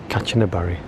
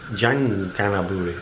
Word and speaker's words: Kanchanaburi: We're saying goodbye to Kanchanaburi, except in Thai, K is pronounced as a G, so it's Kanchanaburi, I think.